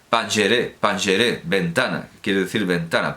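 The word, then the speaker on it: پنجره: Canadá el canal que se escribe Panjara con J, pero evidentemente se pronuncia Pangeré, Pangeré, ventana, quiere decir ventana, Pangeré, ventana al mundo persa, la poesía persa.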